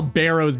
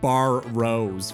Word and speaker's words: Barrows: Surely you call Barrows Barrows and not Bar Rose, right? There's no way.